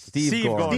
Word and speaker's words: Steve Gorman: the way, you got the name wrong. It's Steve Gorman.